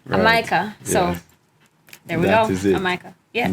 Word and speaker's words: Amyka: long long time ago they don't pronounce the j in jamaica so they would call it a micah so there we go